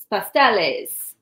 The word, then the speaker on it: pasteles: make the same thing but pronounce it pastels pasteles and use banana instead